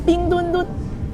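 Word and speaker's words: 冰墩墩: ये Beijing सरमाई Olympic के वो कैसे कहते हैं वो खुसूसी कोरिया है और इसका नाम है पिंगदुनदुन। आप सही तौर पर प्रोनाउंसिएट कर सकते हैं।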